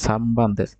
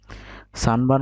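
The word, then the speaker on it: 三番: হ্যাঁ, এই যে সামবান্দেস, দেখেন এই যে আমরা 3কে পড়েছি সান, তারপরে আছে পান, কিন্তু উচ্চারণ করতেছি কি সামবান। সানবান উচ্চারণ না করে করতেছে সামবান। উচ্চারণ করার কথা ছিল সানবান, কিন্তু উচ্চারণ করতেছে সামবান।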